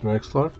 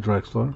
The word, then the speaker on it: Drexler: clyde drexler jam jam master sorry jms clyde draxler clyde drexler i think i said the name wrong a few minutes ago old school we